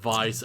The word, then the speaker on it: Weiss: Kano Weissmon, pronounced Weiss. Oh, Kano Weissmon. Alright, yeah. Yeah, it's like a German W.